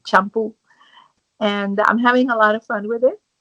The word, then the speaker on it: Champú: It's spelled CHAMPU, accent on the U, Champú.